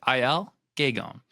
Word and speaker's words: Aël Guégan: Excited to be here today with my new friend, Aël Guégan. Let's go. I think I pronounced it somewhat right.